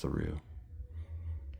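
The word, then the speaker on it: Thoreau: Uh this summer I lived in Thu, New Mexico, which may have been named after him, but is now pronounced Theu.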